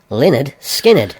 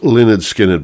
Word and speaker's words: Lynyrd Skynyrd: Pronounced Lynyrd Skynyrd. Yes, pronounced Lynyrd Skynyrd by, of course, Lynyrd Skynyrd.